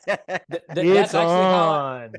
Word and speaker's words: Itson: It's on. That's how I tell people to pronounce it, because they're all, is it Itson? Is it Itson? So I just say it's on.